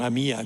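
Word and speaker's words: Àmia: Non Amia come scrivono, da Amita in latino, quindi l'accento resta sdrucciolo, va bene?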